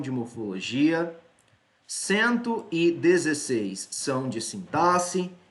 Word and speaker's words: sintaxe: táxi entenda-se sintaxe bem a pronúncia correta dessa palavra é sintaxe mas durante muito tempo eu falei sim táxi e hora por outra pode ser que eu digo assim táxi mas a pronúncia é sintaxe sintaxe sintaxe também são